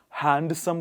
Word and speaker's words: handsome: A lot of people say handsome. Handsome would be wrong, I'm afraid. It is handsome.